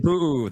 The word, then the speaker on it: Pu'u: Hey, I want to say excellent pronunciation of puoo.